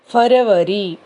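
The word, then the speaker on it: फ़रवरी: February எப்படி மாறுதுன்னா February, இங்கிலீஷில் இருக்கிறது ஃபரவரி, ஃபரவரி அப்படின்னு நம்ம சொல்லணும்.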